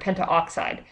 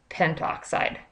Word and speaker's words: pentoxide: know a mouthful here Penta oxide it's actually going to be pronounced d nitrogen pentoxide so we're kind of going to drop that a okay so go ahead